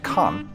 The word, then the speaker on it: Cannes: Even the flea markets are glitzy in Cannes, pronounced Cannes in French, but more famously known for its film festival.